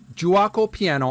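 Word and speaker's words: Giuoco Piano: with game three and it's pronounced juako juo piano it's Italian terminology that's game number three juaco piano on page 76 I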